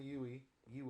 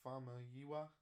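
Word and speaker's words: Famuyiwa: wars shows rick family yui you uh is that how you pronounce that you need to say rick farmer yiwa how this woman go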